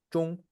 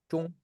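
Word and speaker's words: 钟: Se dice chun, igualito que centro, chun.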